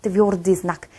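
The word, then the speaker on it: твёрдый знак: Tvrdiznak. 얘가 바로 그 기호 중에 하나입니다. 이 자체로는 발음이 없어요.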